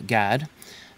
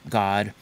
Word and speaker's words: Gad: sorry they named him gad and the hebrew pronunciations are a little different it's actually god in hebrew a lot of these